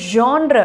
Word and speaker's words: genre: ஸோ அதுக்கு வந்து GENRE அப்படின்னு வந்து சொல்லுவாங்க. இது வந்து ஜான்ற அப்படின்னு ப்ரொனவுன்ஸ் பண்ணணுமா, ஜான்ற.